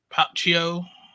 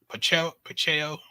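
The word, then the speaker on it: Pacheco: very sad very sad uh there's other some other um people have died I think um Carlos popcio has died pacheo then that's how you say his name um he was one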